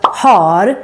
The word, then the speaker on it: har: But if you're going to say it, you need to say it right. And don't mix it up with the word hår, hair, or här, here. It is actually very common to mix up har with här.